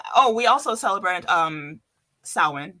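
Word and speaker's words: Samhain: we also celebrate um sin because that's how it's pronounced and we do our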